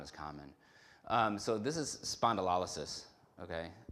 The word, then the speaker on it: spondylolysis: I've heard some people pronounce it spondylolysis. As you see it more often, you kind of just shorten it up to spondy, just because it's easier.